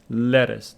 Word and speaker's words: lettuce: we need any lettuce the pronunciation is lettuce do we need any